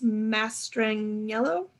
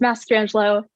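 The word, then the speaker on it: Mastrangelo: your name wrong miss mastering yellow yes um it's mass strange low it's italian it's a little hard i get it perfect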